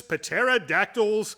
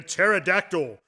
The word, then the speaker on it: pterodactyl: Terror of the dreaded pterodactyl one might even say that what the p is silent is that because you